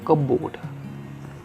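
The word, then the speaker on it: cupboard: Next word है हमारे पास कपबोर्ड। कपबोर्ड, इसको कपबोर्ड नहीं बोलेंगे, इसको पी साइलेंट रहेगा, कपबोर्ड।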